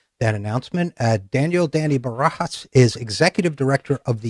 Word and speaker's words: Barajas: name very good other Barajas I know in Spanish you just pronounce the J like an age that's that's that perfect